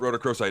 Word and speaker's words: rhodochrosite: I can return with my favorite mineral, and it's a rhodochrosite, which is manganese carbonate.